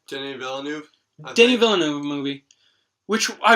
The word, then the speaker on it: Denis Villeneuve: I called Arrival, another Denis, I don't know how to pronounce his name. How do you say his name? Denis Villeneuve.